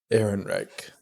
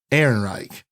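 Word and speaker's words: Ehrenreich: last name Devin do you know how to pronounce alden's last name Aaron Reich Aaron Reich Alden Aaron Reich I do apologize I didn't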